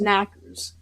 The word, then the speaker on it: Knockers: The name Knockers, pronounced Knackers, comes from the knocking on the mine walls that often happens just before cave-ins.